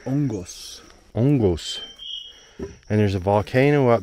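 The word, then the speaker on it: hongos: mushrooms right cheers yes but the h is silent so ongos and there's a volcano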